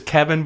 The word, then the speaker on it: Keighvin: Also, we didn't mention that the elf's name is Kevin, but it's spelled Keighvin, and it reminded me